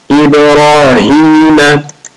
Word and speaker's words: إبراهيم: Ha is deep. Ibrahim wa ala ali Ibrahim innaka hamidun majid.